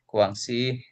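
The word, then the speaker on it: Guangxi: Nah, nomor 8 itu ee di ee anu almamatar kami ini di Kuangsi e ini bacanya Kuangsi Kuangsi Khata Universitas Kedokteran Guangsi.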